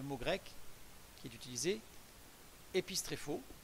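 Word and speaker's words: ἐπιστρέφω: grec qui est utilisé, épistréphos, je n'ai pas mis la prononciation, mais c'est épistréphos, qui veut dire se retourner ou faire demi-tour, un retournement sur soi-même.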